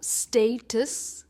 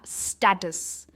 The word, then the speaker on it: status: Next है, इसे आप कह सकते हो स्टेटस या स्टेटस। दोनों भी प्रोनाउंसिएशंस परफेक्ट है, स्टेटस या स्टेटस, दोनों परफेक्ट प्रोनाउंसिएशंस है।